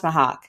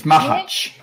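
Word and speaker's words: Machač: Always keeps the short length at about 5 inches, Thomas Mahak. I always say it wrong. It's Mahach. It's Mahach.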